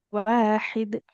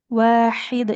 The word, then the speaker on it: واحد: وإلهكم إله واحد Wa ilahukum ilahu wahid. وإلهكم إله واحد Wahid, jangan wahid. Di tengah tenggorokan.